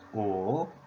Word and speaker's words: 五: I already talked about this, slash, this character here, just like this, meaning 5 elements, and the pronunciation was O, having tone number 3 value.